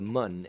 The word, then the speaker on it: Mun: Or to the mun, as they call it in this game. But it's spelled M-U-N.